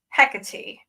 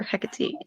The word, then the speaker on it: Hecate: from what I understand, it's Hecate, and that's how the Greeks pronounced it, and that's where she's from. Okay. So tell us about Hecate or Hecate.